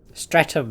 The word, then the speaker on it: Streatham: Streatham was the correct pronunciation.